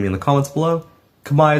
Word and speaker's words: Khmer: in the comments below kamay is literally how he's supposed to pronounce it not Kam zela which